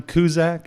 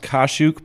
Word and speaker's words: Kaszuk: It's actually pronounced Kaszuk, but my family, Kaszuk. But my family though, when they got off the boat from Poland, somebody mispronounced it and said Kaszuk. So that's the way they say it. They actually say Kaszuk because they thought that sounded American.